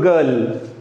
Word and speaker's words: girl: For example, girl. G-I-R-L, so it is the correct pronunciation is girl.